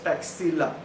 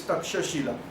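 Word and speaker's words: Taxila: west side of jalum that was called as Tash Shila um wrongly pronounced as taila but actually the word is tasila so this is the tasila provinces now four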